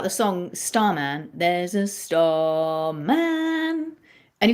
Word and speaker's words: Starman: So if you think about the song Starman, there's a starman. And if we were going to say the word starman, star's higher. Star is the stress syllable.